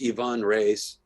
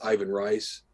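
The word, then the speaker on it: Ivan Reis: books and that's uh it's it's pronounced Yvonne race but it's Ivan rice that's the you know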